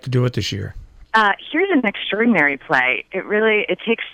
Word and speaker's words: Hir: It's actually pronounced here.